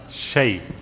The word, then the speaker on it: الشيطان: من الشيء, make keep shin light. Shay, this way, okay.